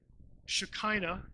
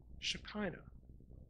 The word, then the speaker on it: Shekinah: Shekinah is probably the way you've heard that pronounced, if you've heard the word at all.